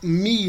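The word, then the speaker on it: μι: A gente sempre vai usar mi, não mu, viu, Aelson? É só a grafia lá que é o U do alemão, mas a pronúncia nossa sempre vai ser mi e ni. Mi equivale ao M e ni equivale ao N.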